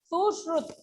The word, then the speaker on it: सुश्रुत: सुश्रुत नाम है इनका, मैं आपको हिंदी में इसका प्रोनाउंसिएशन दिखा दे रही हूँ, सुश्रुत, ओके, इसका हिंदी प्रोनाउंसिएशन सुश्रुत है।